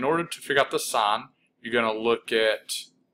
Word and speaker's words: sine: So the first trig ratio is sine, S-I-N-E, you pronounce that sine, and when we talk about trig ratios, it's only on right triangles.